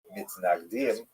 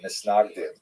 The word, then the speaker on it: Misnagdim: He is the acknowledged head of the movement known as the Mitznagdim, or the Misnagdim, as would be pronounced in Ashkenazi pronunciation.